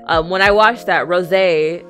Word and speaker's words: Rosé: if you don't know Rose uh you guys told me sorry you guys did tell me that her name is not Rose it's pronounced Rosé very luxurious um when I watched that Rosé it's going to be